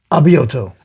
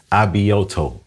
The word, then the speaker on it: Abioto: Abioto. Abioto.